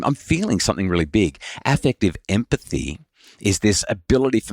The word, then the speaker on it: affective: heap of life before you actually got that effective empathy going. Yeah, so just to be clear, it's not effective as in effective meaning it's effective and it gets things done, but rather affective.